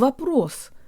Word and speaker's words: вопрос: pronounce the word of a proof or question the O in the first syllable sounds like an AA flavored schwa let's say it with